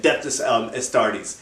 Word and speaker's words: Adeptus Astartes: Adeptus Astartes? Yeah. Yes, the right way to say it. Adeptus Astartes.